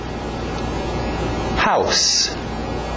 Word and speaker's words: house: House. Cuidado com esse S no final, não é um Z. House existe, é um verbo. To house, dar abrigo para alguém. Nós queremos house. S. House. Home.